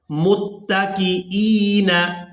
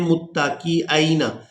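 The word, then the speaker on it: مُتَّكِئِينَ: ہم نے سیکھنا ہے۔ متکئین، حمزہ کو یا ساکن کے ساتھ ملائیں گے اور کھینچ کر ادا کریں گے، حمزہ یا زیر ای، بعض لوگ اس کو پڑھتے ہیں متکئین، یہ حمزہ کے اوپر زبر پڑھ دیتے ہیں، تو حمزہ کے اوپر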